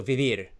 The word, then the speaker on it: vivir: Okay, 99.9% of people in Spain, they pronounce both sounds the same. B. B. Vivir. B. Vivir. Yes, bibir. I say bibir, and everybody says bibir.